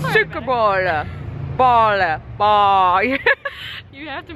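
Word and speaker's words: Suikerbôle: I just realized it's 5:30 that I forgot to buy sugar bread, or make me pronounce it. Make Suckerballe. Suckerballe. Suckerballe. Suckerballe. Sorry, better. It's Suckerballe.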